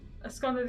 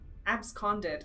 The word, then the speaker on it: absconded: Asconded is as he left with something. Oh, okay. You're very resourceful. Thank you. Very few people actually know how to pronounce it. Absconded.